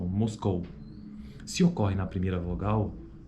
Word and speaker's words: Moscou: Veja que a proeminência de acentuação, a proeminência acentual é na palavra, é na vogal O. Então, Moscou.